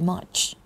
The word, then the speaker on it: much: Enjoy the Dinner Very Much much อย่า ลืม นะ มี ด้วย นะ คะ much ไม่ ใช่ มัด มือ มัด เท้า อย่าง งั้น นะ I